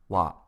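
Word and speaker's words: は: topic into the conversation it is written as ha but is pronounced wa let's use the topic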